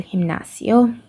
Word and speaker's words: gimnasio: Again, with the weird sounding letters, the G is also pronounced he sometimes with certain vowels. So I, after a G, would make the word pronounced gimnasio rather than gimnasio.